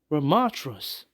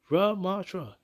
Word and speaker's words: Ramattra: OverWatch news we have a trailer out for ramatras yes that's how you pronounce his name ramatra rub Matra yes and we have a trailer Gameplay trailer